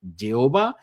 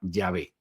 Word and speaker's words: Jehová: aunque no el único, es Jehová, o si se prefiere la pronunciación hebrea Yehovah, o tal y como vocalizan otras personas el tetragramaton, las cuatro letras del nombre Jehová, Yahveh.